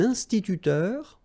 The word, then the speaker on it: instituteur: Then, un scientifique, un instituteur, okay? So liaison here, and then remember this EU, it goes like heure with the R.